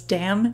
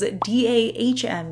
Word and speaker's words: Dam: to think it was damn nail polish but the pronunciation guide on the website says dahm is how you pronounce it so hopefully I am